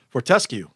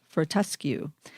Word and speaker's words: Fortescue: is the ticker there for how do you pronounce it for tusky Fortescue Fortescue Fortescue that's the australian iron or metal guys